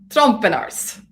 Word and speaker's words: Trompenaars: with uh steve and fonz trump and ours trump and ours well done yes we're just having discussion about pronunciations of our crazy european names i'm valchak